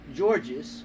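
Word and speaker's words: Görges: It could be Yeah, gorgeous so, for all you know, but it's Georges, because I've heard it today.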